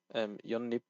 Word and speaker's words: 연립: So as with the neon and the liu, when you pronounce them, well, obviously there's a sound change when they're together. So sometimes it can be like yonnip. So this one is obviously yonnip.